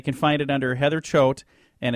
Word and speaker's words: Choate: he's a great joke it rhymes goat okay so if they're if they're searching for it online they can find it under heather Choate and it's seven secrets